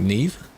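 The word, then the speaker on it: Niamh: There is another name that I'm aware of where it is Neve, I think, but it's like N-I-A-M-H. But it's pronounced like Neve.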